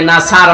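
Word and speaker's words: نصر: আপনি অর্থ পাল্টিয়ে ফেলবেন এই যে যারা সূরা নাসর পড়ে আমি তোর বলেছি এখানে আছেন দিয়ে উচ্চারণ করলে নাসার মানে বা ইগল অথচ নুন সদর নাসর মানে সাহায্য এখানে আল্লাহ শব্দের আগে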